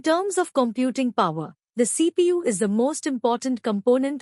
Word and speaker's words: CPU: device the keypad to CPU Central Processing Unit it is an abbreviation for central processing unit and is pronounced as separate letters the central processing unit